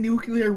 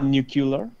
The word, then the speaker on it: nuclear: at one point we had thirty one thousand nuclear warheads yeah you asleep nucular its own you dare to correct me on